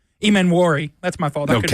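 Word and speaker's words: Emmanwori: pronunciation the first time that there is a silent n at the beginning of his name no no okay I give up on this one it is e m m a n w r i Ean wari that's my fault I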